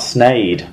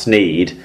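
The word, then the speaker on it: Sneyd: she did get into a bit of a pronunciation game with us this week and she told us Tom that it's sne not snade I was trying to work out I think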